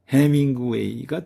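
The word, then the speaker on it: ヘミングウェイ: 자, 다음은 이응의 경우는 해밍구웨이가 되겠습니다. 해밍구웨이. 여기에서 비음, 응은 한글의 이응에 해당되는 응으로 발음이 되고 있습니다. 그래서 해밍구웨이가 되겠습니다. 해밍구웨이는 그 유명한 대문호 그 사람입니다.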